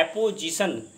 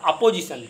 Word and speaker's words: apposition: अधिकार कारक कहते हैं, यहां पर हम एपोजिशन के उच्चारण पर ध्यान देंगे। ये लिखा है एपोजिशन, नॉट अपोजिशन। कुछ बच्चे इसको अपोजिशन पढ़ते हैं, तो ये अपोजिशन नहीं है।